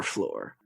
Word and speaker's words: Flore: That's lore with an F at the beginning. So it sounds like floor, but it's not the floor you're thinking because it's our floor.